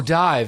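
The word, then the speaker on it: DIIV: like that band die they spell it di IV I'm like oh it's div it's like yeah you're making me say that word if you want to be dies at the right way I say div yeah yeah i-i've never referred to them as dive ever because it's not how it's spelled I didn't even know it was dive and so yeah I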